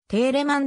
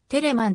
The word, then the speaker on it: テレマン: 曲を参照にほんでは定例マンではなくテレマンと第一音節を単音に変化させた読み方表記が多く用いられる georg philipp テレマンジャーマン